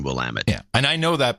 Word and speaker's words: Willamette: it will am it most people don't know how to pronounce will I'm it how would you pronounce it otherwise oh people say willamette oh no it's always been will am it yeah and I know